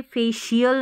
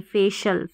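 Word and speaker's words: facial: अन ऑफिशल अनऑफिशियल अनऑफिशियल फिर है यह फेशियल नहीं फेशल फेशल फेशियल नहीं फेशल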